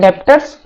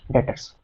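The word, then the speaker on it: debtors: लिखते हैं डेप्टर्स, बट इसका प्रोनाउंसिएशन क्या होता है? डेटर्स।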